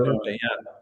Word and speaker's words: Nuvei: I don't know how we pronounce it properly. For Yeah, the Nuvei, Yeah, that's it.